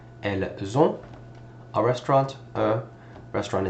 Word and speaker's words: elles: So in this case, the feminine version of they is elle with an S. We call it elle pluriel. Do not pronounce the S. We do not say elles.